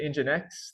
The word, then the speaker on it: nginx: This program up here, I pronounce it Nginx. The developers pronounce it Nginx. That seems a little bit too cute for me.